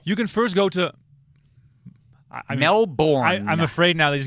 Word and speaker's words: Melbourne: Why is Melbourne? Because that's how the Aussies say it, and I want to say it wrong.